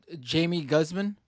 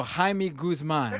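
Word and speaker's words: Jaime Guzmán: was like the idea Jamie Guzman we don't pronounce the J in Spanish I forgot I'm sorry so Jaime Guzman right right I totally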